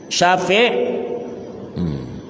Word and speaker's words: Syafi': Syafi'. Ini kakek kau ada ya, nama Syafi'. Ya, kakek yang berdua ni. Syafi', jangan baca sapi lain. Syafi', ya.